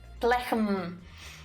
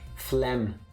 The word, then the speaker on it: phlegm: If you want to say phlegm, why wouldn't you just go PF? Not phlegm. Phlegm. Phlegm, well.